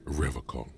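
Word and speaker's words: Revachol: He pronounces Revocol with a hard K.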